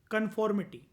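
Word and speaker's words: conformity: जब हम बोलते हैं, जब हम इस वर्ड को यूज करते हैं कन्फॉर्मिटी, ये कन्फर्मिटी नहीं है, याद रखना, स्पेलिंग देखना ध्यान से। कन्फॉर्मिटी, नॉट कन्फर्म। मैं ये वर्ड यूज नहीं कर रहा हूँ कि हाँ कन्फर्म कर दो एक बारी।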